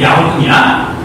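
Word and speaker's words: 遼東: 요동의 중국 발음이 야우통이야.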